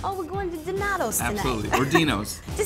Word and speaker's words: Dinotto: No matter how you say it, there's no mistaking, Dinotto's has some of the best Italian food in Chicago. The food's amazing. It's Dinotto without the Chicago S.